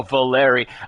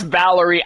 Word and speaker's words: Valeri: Oh, Valeri. I I thought his name was going to be pronounced Valerie. I was going to lose my So, Valeri. Okay.